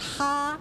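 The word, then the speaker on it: 蝦: Shrimp in Cantonese is pronounced ha.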